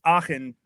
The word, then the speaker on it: Aachen: Aachen.